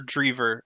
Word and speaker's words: Adam Driver: Is it Driver or Drever? Driver? It's Driver, isn't it? Adam Driver. I think he's in the new Star Wars. Yeah, I just don't know how to pronounce his name because we had a kid in high school spelled the same way, but it was Drever.